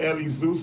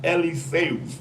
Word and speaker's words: Eliseus: Bro, that name ain't no Eli Zeus, man. That's pronounced Eliseus, man.